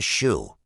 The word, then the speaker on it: SHU: The security housing unit got the shoe, pronounced shoe.